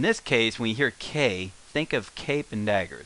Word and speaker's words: け: The character we're going to learn next, KE is the romanization on it. Now this is pronounced K, as in special K, cape, kangaroo, K. The story, what we want